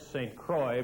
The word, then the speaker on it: St. Croix: I must say I have a little trouble talking to Jacques sitting in Quebec City and talking about Rick St. Croix, but that is the way he prefers it pronounced.